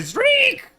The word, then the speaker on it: Zurich: Like, very much emphasized like a syllable between the Z and the R that I think undermines the notion of A to Zurich.